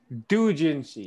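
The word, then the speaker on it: doujinshi: Dojinshi, yes, that's how you say it.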